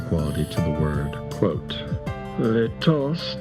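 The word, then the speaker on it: lítost: Quote, "Let is an untransatable Czech word. Its first syllable, which is long and stressed, sounds like the whale of an abandoned dog.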